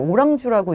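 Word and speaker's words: Orange: 그 다음에 저는 이 오렌지인 줄 알았더니 프랑스어로 오랑주라고 읽더라고요.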